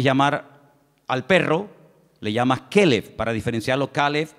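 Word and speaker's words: כלב: el nombre del perro se pronuncia diferente Pero se escribe igual calb es para el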